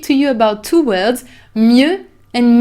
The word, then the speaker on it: mieux: The other one is mieux. Mieux is a little bit difficult to pronounce because you have this closed E.